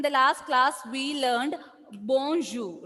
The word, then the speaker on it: bonjour: That is why when we pronounced bonjour, we didn't pronounce this sound, right? R was silent there.